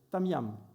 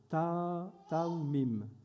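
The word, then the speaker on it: תמים: Nous avons cet temps, mais nous avons aussi cet homme Noé en nous qui, est lui, intègre, tamiam. Non, je ne le prononce pas bien. Taoumim. Voilà. Excusez.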